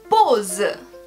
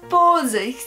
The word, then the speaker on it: pause: Mais en français, alors le A-U, ça donne O. Et ça n'arrive pas partout. Alors en français, on va dire pause.